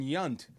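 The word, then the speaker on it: Yount: His his wife told me it's actually pronounced Yant.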